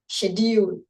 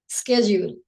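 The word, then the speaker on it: schedule: দেন হচ্ছে শিডিউল, এটা কিন্তু আমেরিকানরা বলে স্কেজিউল। সো এক এক জায়গায় এক এক উচ্চারণ হয়, বাট আমরা যেটা সাধারণত আমরা যেটা বলি আমরা সেটাই বলবো, এটা হচ্ছে শিডিউল।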